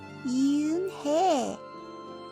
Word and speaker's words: Unhei: It's pronounced yunhei. Oh, it's yuhei.